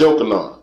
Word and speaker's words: Johanan: And the sons of Josiah were the firstborn of Johanan. The same name is pronounced Yochanan.